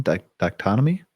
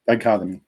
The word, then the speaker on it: dichotomy: Uh today's camping landscape reveals a fascinating how do I pronounce that again? Donomy. Dichotomy.